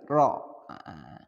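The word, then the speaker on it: ر: Ro, perhatikan ro ini ketika sukun maka getarannya tidak terlalu banyak untuk ro. Itu untuk pelafalan Al-Quran. Untuk pelafalan Al-Quran. Tapi kalau misalkan ro itu sukun atau baca puisi, nyanyi misalkan, itu lain lagi. Jadi untuk melafalkan Al-Quran, ro-nya cukup 2 getaran saja.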